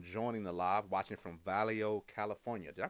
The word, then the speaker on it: Vallejo: our first time joining the live watching from valo California did I pronounce that right oh thank you valo yeah Vallejo California thank you for joining us oh oh